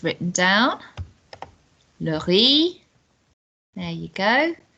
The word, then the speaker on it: le riz: Le riz. There you go. So it's got a Z on the end that we don't pronounce, which is strange, isn't it?